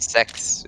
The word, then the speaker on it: sex: is actually pronounced sex in Swedish.